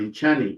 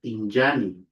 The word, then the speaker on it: injani: For example, we have the word apparently in Chani, but it's not in Chani, is injani, injani, meaning to enter, injani, injani, or to come in, injani.